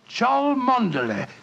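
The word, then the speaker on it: Cholmondeley: That name's spelt C-H-O-L, Chol, M-O-N, Mon, D-E-D, L-E-Y. Chol Mondele. Mondele.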